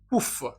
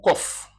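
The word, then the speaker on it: קוף: On prend cette consonne qui s'appelle kouf. S'appelle kouf ou kof. Kof ou kouf.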